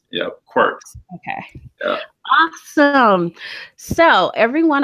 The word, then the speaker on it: Qwerkz: And we're here with none other than the founder of, it's pronounced Qwerkz, right? Qwerkz. Yep, Qwerkz.